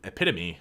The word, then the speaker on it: epitome: got a girlfriend ella well i used to pronounce it wrong too epitome nice nailed it doesn't pizza have a job